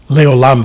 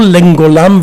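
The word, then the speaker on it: לעולם: So when I was taught to say the Shema Israel, it was not Shema Israel, Leolam Vaed. It's Shemang Israel, Adonai Eloheinu, Adonai Echad, Baruch Shem Kevod Malchuto, Lengolam Vanged.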